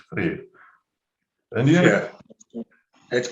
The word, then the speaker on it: Freer: Freer, you spell it like Freer, but I suppose it's Freer.